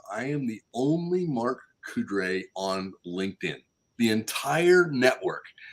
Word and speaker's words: Coudray: the name right because we always want to put an extra R in there yes yes it's not